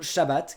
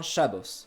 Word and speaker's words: Shabbat: Kaddish, qui devient Yisgadal, ou Shabbat, qui devient Shabbos.